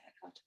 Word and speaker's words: Eckhart: Eckhart.